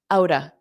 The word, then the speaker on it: out of: Now, notice how I pronounce out of, outa, outa, out of the park, out of the park.